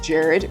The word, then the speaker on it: Jared: His name is Jared, which is a truly American pronunciation of his name. I think he said it's pronounced Herad.